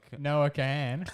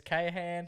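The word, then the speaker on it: Noah Kahan: No, Noah can. Yeah, if you watch his videos, people will just butchering it, man. Yeah. Gets Kahan, he gets Kahan, gets Carney.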